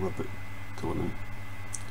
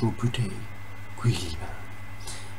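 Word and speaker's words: Roboute Guilliman: was commissioned by Rabuti Gilliman, I normally want Rabut Gilliman, but you know, I'm Scottish, so I pronounce things in whatever fucking way I feel like it at any given time. But apparently it's Rabuti Gilliman.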